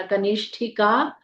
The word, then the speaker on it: कनिष्ठिका: क न में छोटी इ की मात्रा आधा श पेट कटा और ठ में छोटी इ की मात्रा कनिष्ठिका भ्या नमः ओम भुवनेश्वराय